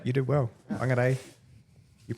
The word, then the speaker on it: Whangarei: Whangarei. You did well. Whangarei. Your pronunciation today is exceptional.